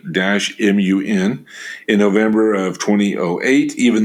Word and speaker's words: Batman: city of batman turkey pronounce batman b-u-t b-u-t-m-u-n in november of 2008